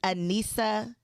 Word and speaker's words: Aneesa: Aneesa. Did I say it right? Yes. I had to spell it like how I was going to pronounce it, and I did it.